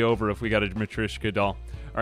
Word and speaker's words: matryoshka: right let's try it am i saying it right or is it match ryshoka matryoshka no i think it's matrishka matryoshka it's like the name kaori versus kaori i've been playing a